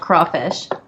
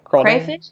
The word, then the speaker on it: crawfish: Someone just said it's pronounced crawfish. Okay. What did you call it? I call it crawfish, I guess. Yeah, it was crawfish. Some people say crayfish, I guess.